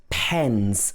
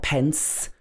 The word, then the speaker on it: pens: Pens. Also pens. Do you have any pens? Not pence.